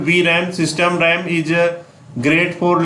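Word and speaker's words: VRAM: रैंडम access memory and इस pronounce B राम system राम इसे great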